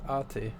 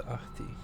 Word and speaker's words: Ahti: I've heard it pronounced both Ahti and Ahti. So I suppose it's like seeing Thor in it, seeing it pronounced both Thor and Tor.